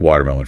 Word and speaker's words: watermelon: But the pronunciation, that T in water in American English, it's often not a hard T. We call it a flapped T or like a fast D sound.